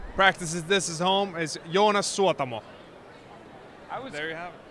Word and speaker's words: Joonas Suotamo: Now, I'm just gonna give the correct pronunciation. oh, thank you. Practices this is home is Joonas Suotamo.